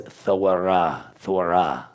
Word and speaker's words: Torah: I have to say Torah. See what I'm saying? So how would you actually say this properly? So it's Thorah. Kind of like Thor.